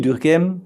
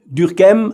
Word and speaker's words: Durkheim: around the year 1900 durkheim i tried to pronounce his name the french way but maybe i will forget it later and give it a more german sound durkheim was very interested